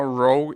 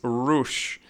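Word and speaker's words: Rouge: bits Rog s R that's very easy to mispronounce her name is not wrong is rush cuz it means red in in French I think yeah probably in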